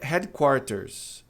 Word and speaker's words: headquarters: A pronúncia errada é headquarters. Head quarters. R como em reta. O que não pode ser porque como a gente viu, o H tem som aspirado, ou seja, a passando pela garganta, como aqui na palavra cabeça.